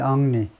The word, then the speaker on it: Henry: 중간에 물러나는 건데, 이 총리 아리엘 앙리, 프랑스에서는 진짜 앙리, H를 발음을 하지 않네요.